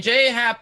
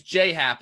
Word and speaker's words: J.A. Happ: Happ, really, I'm glad that you pronounced his name J.A., Eric, because it's the incorrect way, but it's actually the correct way. Because you don't get to say your name's J Happ when it's J.A. Happ.